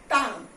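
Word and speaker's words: tongue: टंग, you silent over here.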